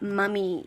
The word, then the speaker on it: mummy: Well, we call it mummy here in Australia, which is with a U, not an O.